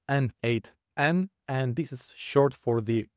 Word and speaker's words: n8n: You pronounce it as N8 and this is short for the nodemation.